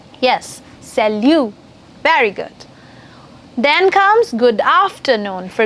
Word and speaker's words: salut: French for hi hey what's up it's called Salu yes salute very good then comes good afternoon for good